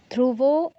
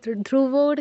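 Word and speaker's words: ধ্রুবো: ধ্রুব মৃত্যুর জাতস্যহি ধ্রুবর মৃত্যু ধ্রুবর কেন বলছো ধ্রুব এরপরে মৃত্যুর মৃত্যুর আচ্ছা আবার বলো জাতস্যহি বলো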